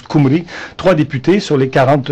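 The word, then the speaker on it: Cymru: Alors, le parti indépendantiste galois en passant s'appelle le play Kumri, ça s'écrit cyc Mru, mais ça se prononce Kumri.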